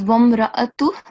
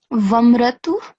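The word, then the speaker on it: وَامْرَأَتُ: This is Vamra'atu, but you said Vamratu. So you missed this alif with the fatha here.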